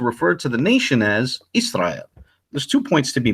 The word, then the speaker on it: Israel: we touched on earlier he clearly understood the word is being pronounced Israel not Yasser aisle or Yahshua L however the Torah nights